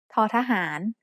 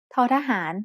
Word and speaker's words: ท: letter is t, like the T in the word top. There should be a puff of air coming out of your mouth when you make this sound.